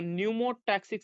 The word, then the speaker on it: pneumotaxic: दूसरा, another center is in the pons region of the brain is called pneumotaxic center, PNEO, P silent होता है तो NEUMO न्यूमोटैक्सिक centre, तो P फॉर पोन्स और P फॉर न्यूमोटैक्सिक, ऐसे याद रखना है।